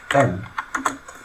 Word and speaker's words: knight: The knight is symbolized with the capital letter N, because in English, as you know, the KN is pronounced as N.